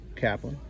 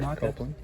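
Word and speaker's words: Copeland: stuff we got edge here here we go Kaplan copelan sorry copelan look all the Ric flares so many Ray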